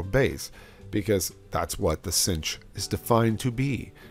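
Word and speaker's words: sinh: the hyperbolic sign and we call that the cinch cinch okay and actually probably pronounce uh to pronounce pronounce it it probably pronounces better like that cinch um anyway it's defined to be e to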